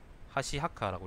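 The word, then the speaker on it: 箸墓: 하시하카라고 읽는답니다.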